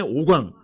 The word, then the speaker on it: 옥왕: 바산의 옥왕. 자, 해봐요. 바산의 잘못하니까 오강 소리가 들리네. 확실하게 해줘. 옥왕 이렇게 끊어 읽어주면 들려요. 끊어 읽어주면 돼. 붙어 읽으면은 이상하게 들리니까.